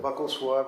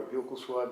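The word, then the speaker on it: buccal: The buckle swab or bugle swab depending on how you pronounce it.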